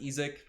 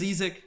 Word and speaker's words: Isaac: but uh his name's ezek not isaac bond guys from germany so that's how it's pronounced over there not to blame but